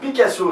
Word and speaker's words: PickAsso: Picasso, ça s'écrit pic, comme choisir en anglais, P-I-C-K-Asso. De quoi s'agit-il?